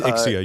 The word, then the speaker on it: Ixia: I always say Zixia when I see that for some reason. It's I've always heard it referred to as Ixia. It is Ixia. You are correct. I am wrong in my pronunciation, as usual.